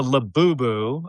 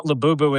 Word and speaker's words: Labubu: Well, another gift, it's a Labubu, I think is how you Yes, a pronounce it, Labubu.